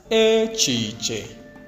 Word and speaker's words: echiche: So we expect the sound. So that is echiche.